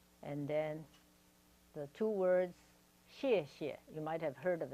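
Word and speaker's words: 谢谢: And then the two words 谢谢, you might have heard of it before. It means thank you, and it's spelled X-I-E, X-I-E.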